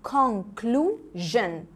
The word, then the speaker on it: conclusion: s-i-o-n بتتنطق جن جن كده، لكن التي بتتنطق شن، دي اسمها conclusion.